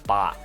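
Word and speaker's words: 八: I think it has to do with 8 being pronounced as ba, which is also similar to fa, which in Cantonese means a fortune.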